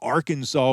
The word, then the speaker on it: Arkansas: It was a fitting replacement for the Arkansas, which sank earlier that year. And by the way, that's Arkansas with a W on the end of it, just like the good Lord intended.